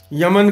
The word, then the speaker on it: यमन: राग का नाम कल्याण, उनको लगा ये तो हिंदुओं का शब्द है तो ईमन कहने लग गए, यमन कहने लग गए, ईमन या यमन इस तरह से इसका उच्चारण उन्होंने उर्दू में, इसको फारसी में करना शुरू किया।